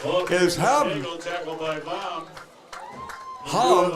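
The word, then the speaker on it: Hvam: Ham, that's spelled H-V-A-M, Baum.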